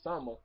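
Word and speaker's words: Souma: Him, Krona, the main character, my favorite, Summer, how you say his name? It's like Sun with an A, Summer.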